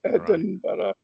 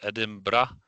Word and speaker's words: Edinburgh: know what I mean Edinburgh is more colloquial whereas Edinber is more someone trying to pronounce it clearly and correctly. So uh so no matter whether I pronounce the ending like an A or an E, it doesn't make much difference. Edinra or Edin bre doesn't make much difference to your ears or A is better at the end.